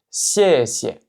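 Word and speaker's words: 谢谢: Et enfin la paire 4-5 qui va se prononcer 谢谢, 谢谢, 谢谢.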